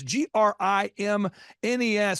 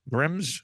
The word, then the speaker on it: Grimnes: this dad he's like think of it as like the grimness of the situation I'm like Dad that's not good don't say that no don't it's no like anyway thank you team grimness have a great day